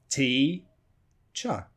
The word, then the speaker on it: teacher: title I'm a teacher T cha so have two syllables T cha but which is the strong syllable which is the weak syllable in that title that's